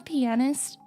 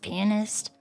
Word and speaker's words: pianist: I would purposfully mispronounce it. I'd be like, "Yeah, I'm a pianist." And then whenever I'm the person I'm talking to is like, "I'm actually It's pronounced pianist."